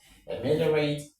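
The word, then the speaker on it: ameliorate: Of course you know when you have a word end in rat t most of the time the stress falls on the third syllable from the back.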